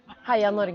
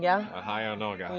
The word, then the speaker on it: Heia Norge: Heia Norge. Heia Norge.